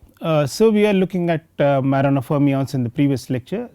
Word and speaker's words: Majorana: So we introduced Majorana fermions because we thought that we want to find the motivation for Majorana, whatever way you want to call him, because J is pronounced as Y in some parts of the world.